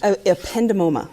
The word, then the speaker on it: ependymoma: Would you pronounce the tumor again, please? Ependymoma.